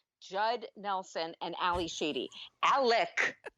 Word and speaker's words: Alec: nelson and ali sheedy alec not alex by the way could we start a drinking game and we could drink every time ali sheedy's character says alec that's very very with the hard c yeah come on alec